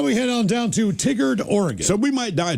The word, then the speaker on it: Tigard: It's pronounced Tigard.